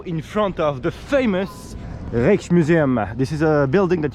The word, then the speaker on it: Rijksmuseum: so the Rex Museum yes you pronounce it like this the Rolex Museum this